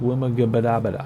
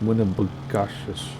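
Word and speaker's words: Winnibigoshish: And then we'll be on our way to the next lake, which is Lake Winnebigoshish. I can never pronounce this.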